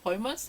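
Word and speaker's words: vermouth: 드라이 베르무트 두가지가 있어요 이걸 또 베로 매트 라고도 하지만 벌 머 스 라고도 발음을 하게 되요 역시 꼴 모스 드라이브할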